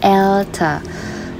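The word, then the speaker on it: älter: Pengucapannya pun juga jadi beda ya, bukan alta tapi elta.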